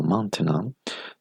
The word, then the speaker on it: maintenant: Donc, on a 5 phonèmes.